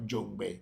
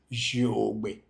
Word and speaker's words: Jogbe: But you know, the real pronunciation of Jongbe in Yoruba is Jogbe. Jogbe.